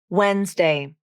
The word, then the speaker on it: Wednesday: it down wednesday wednesday both the d and the e have been dropped from the pronunciation in this word it's two syllables even though it looks